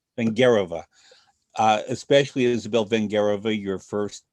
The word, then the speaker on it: Vengerova: Rudolf Sturkin and Vladimir Horowitz, and correct my pronunciation, Isabella Vengerova or Vengerova? Vingerova. Vengerova.